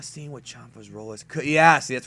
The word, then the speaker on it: Champa: FB beer is called Champa yeah Champa Champa is the same thing it Japanese and English have two different kind of uh translations for it it's pronounced shampa though but it's it's shampa so is there going